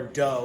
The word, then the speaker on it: doe: of anyway um toe or doe like a female deer is called a do D OE so here's all of